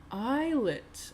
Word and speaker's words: islet: Islet. Okay, I've been saying that wrong word that word wrong my whole life.